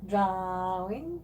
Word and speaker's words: drawing: Drawing. Drawing. You don't pronounce the W. Drawing. Yes, there you go. But there's a W there. You don't pronounce the W. Drawing. It's silent. Drawing.